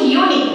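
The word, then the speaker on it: unique: এখন দেখো যখন আমি বলছি ইউনিক, কি বলছি ইউনিক, ইউনিক বলার সময় ইউর যে উচ্চারণটা সেটা কিন্তু ইউর মতো থাকছে না, সেটা কিসের মতো হচ্ছে, সেটা এই যে এরকম হয়ে যাচ্ছে বা এরকম হয়ে যাচ্ছে, অর্থাৎ ওয়াই এর উচ্চারণ আসছে, এটা কিন্তু কি হচ্ছে ইউনিক। ইউনিক মানে ওয়াই এর উচ্চারণটা হচ্ছে, ওয়াই তো ভাওয়াল না, ওয়াইটা হলো কনসোনেন্ট।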